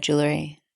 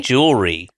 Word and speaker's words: jewelry: I say jewelry. Jewelry. And you say jewelry, which is all the syllables. You You give it two syllables and I give it three.